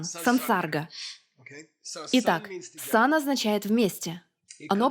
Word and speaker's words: sansarga: Сам по себе сам, а когда в сочетании с «с» меняется на «сан», произношение меняется на «сан», сансарга.